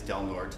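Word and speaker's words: Del Norte: from across the state of California from Little delnort County way up in the north and it is delort that's how they pronounce it delort County North to Alpine way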